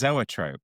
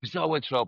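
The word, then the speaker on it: zoetrope: Is it Zoatrope? You know that the the vinyls the vinyls when it kind of it makes Kylie dance. You knew the How do you pronounce it? It's Zoatrope. Zoatrope.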